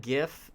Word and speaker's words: GIF: No, you have to pronounce it GIF because Jif is a brand of peanut butter. So if there's a name that's going to be confusing, you use the least confusing pronunciation.